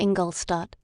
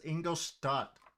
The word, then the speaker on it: Ingolstadt: She is mispronouncing it. It's Ingolstadt, okay? It's a German word, okay? It's Ingolstadt. She's pronouncing it wrong.